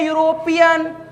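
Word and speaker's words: European: उच्चारण पर जैसे ही ध्यान दीजिएगा, इसको पढ़ते हैं यूरोपियन, यूरोपियन पढ़ते हैं।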